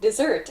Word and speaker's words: desert: Please note, desert as the end of a meal and to desert, meaning to leave or to abandon something, have the same pronunciation but different grammatical functions.